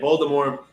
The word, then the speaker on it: Voldemort: Voldemort, the T is silent, right? Voldemort is derived from our French fame.